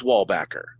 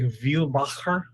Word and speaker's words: Wallbacker: Sure, but it is Wallbacker. That is the family pronunciation. That is not the proper pronunciation. What is the proper pronunciation? It's like Wielbacher.